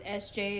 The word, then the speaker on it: EszJay: video Captain stands um again my name is SJ it's spelled e-s-z-j-a-y um you can find me on